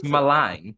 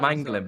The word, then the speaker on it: Malang: It's Malang, I think. Malang Sarr, yeah. Yeah, it's not Mangling, but I prefer your pronunciation, your botched pronunciation of it.